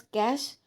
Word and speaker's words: cache: Then cache memory, pronounced as cache The cache memory is a special high-speed storage mechanism.